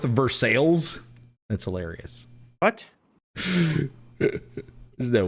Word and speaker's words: Versailles: The neighboring borough to me is North Versailles, and it's not pronounced like the French, right? Because that'd be Versailles. But is it really pronounced North Versailles?